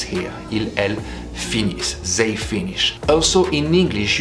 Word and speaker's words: finissent: But when it's actually the termination of a verb, it will be sounding like a E. Ils, elles finissent.